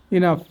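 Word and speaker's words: enough: আমরা ইংলিশ ওয়ার্ডে ইউ এর পর মানে জিএইচ এর উচ্চারণ ফ হয়, যেমন লাভ, টাফ, ইনাফ, draft, calf, laughter, টাফেন।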